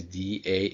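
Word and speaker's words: dağ: Da means mountain, but when you write it, it became D A and soft G. And as a result, you'll read it like not like da, but you'll uh pronounce it like da. Like, you go a little bit down, then little bit up after the uh soft G.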